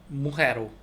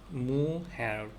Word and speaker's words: mujer: Come se escribe mujer? mujer, mujer, mujer인데 모음에 이가 있으니까 둘 중에 하나겠네요. 해 발음이 지읒 발음, 히읗 발음이 났다는 거는 J 또는 G 중에 하나인데 J로 쓰네요. 이거는 mujer, mujer, mujer.